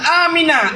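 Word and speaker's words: آمين: Nabi Ibrahim pernah berdoa, Rabbi ja'al hadha baladan amina. Amin. Ya Allah, jadikan negeri ini negeri yang aman. Sabah tu amin. A panjang, min panjang. Ya, cara baca.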